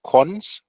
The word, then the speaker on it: cons: is written like this this colon in this case is often pronounced cons so for some historical